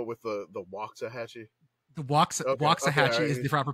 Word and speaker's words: Waxahachie: a band that is named after this place it's spelled differently but yeah Waxahachie that is not correct oh are you making them go with the the Waxahachie the Waxahachie is the proper pronunciation locals will say it's